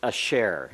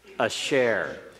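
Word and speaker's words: אֲשֶׁר: it's the particle here that we pronounce a share everyone say that a share a share means who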